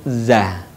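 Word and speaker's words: ز: Huruf za dikeluarkan dengan ujung lisan kita hampir di atas dua gigi seri bagian bawah. Diucapkan dengan mengalir suara tanpa diiringi dengan mengalirnya udara. Sifat lain pada huruf za ini, karakter khasnya dia mirip dengan suara dengungan tawon.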